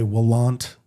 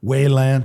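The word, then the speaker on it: WALANT: Don Lalonde, just to kind of the pioneering surgeon using a technique, depending on what your pronunciation is, but we'll say Wallant or Waylant.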